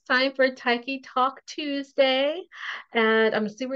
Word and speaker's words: Tyche: And it's Tyche. People are always asking me how to pronounce it. It's Tyche, like Nike, but with a T.